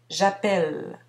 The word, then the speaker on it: j'appelle: Cette particularité s'explique par le fait que pour les premières personnes, on ne prononce pas le E final, j'appelle.